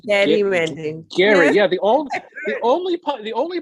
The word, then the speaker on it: gerrymandering: It's actually pronounced gerrymandering.